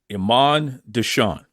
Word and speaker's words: Imon Deshawn: so without further Ado the champ champ himself amand desan welcome to Duke loves wrestling how you doing brother Duke say my name again Iman desan Duke say my name again Iman desan Iman